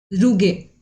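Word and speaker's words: rugae: ठीक है, सबसे फर्स्ट है रूगे। ठीक है, या रूगा आप इसको बोल सकते हो, जो भी प्रोनाउंसिएशन करना हो।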